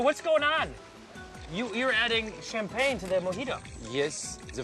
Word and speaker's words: champagne: You're adding champagne to the mojito. Yes, the French mojito. It's good, huh? Champagne. Champagne. Champagne. Oui, champagne. Champagne. Champagne. Champagne. You say champagne. And we say it like this.